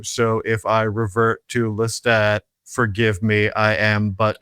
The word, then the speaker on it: Lestat: for the interview and much is made about pronouncing Lestat as Lestadt, which feels very silly in the mouth and is difficult for me to do. So, if I revert to Lestat, forgive me.